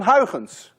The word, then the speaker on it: Huygens: You see, this sound, UY, is pronounced in Dutch as ui. None of you can say ui unless you're Dutch. To make it worse, this sound you don't have either in English. That's a ch. None of you can say a ch unless you're Dutch.